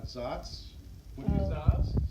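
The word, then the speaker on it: Szasz: may remember Thomas, and no one knows how to pronounce his name, but Zatz. Zaz. S-Z-A-S-Z. You give it your own. Hungarian. Yeah, Hungarian. Yeah, that should be outlawed.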